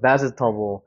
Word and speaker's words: vegetable: 그래서 발음을 하면 vegetable이 되는 거죠. vegetable.